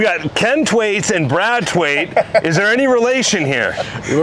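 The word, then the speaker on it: Thwaits: So we got Ken Twaits and Brad Twaits. Is there any relation here? Brother from another mother. Brother from another mother, for sure. It's T-W-A-I-T and T-H-W-A-I-T-S. So it's the H is silent.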